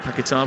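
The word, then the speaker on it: Paquetá: I'm going to follow your lead on that, Paqueta, because that's the Brazilian pronunciation, the Portuguese pronunciation.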